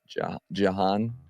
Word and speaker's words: Jhoan: And it is Jan. Duran. Duran. Just think of it as like it rhymes. That's what I keep saying in my head. It rhymes. It's not Duran.